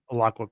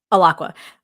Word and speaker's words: Alaqua: god, I just, like, spaced on how to pronounce her name again. Alaqua Cox. Alaqua.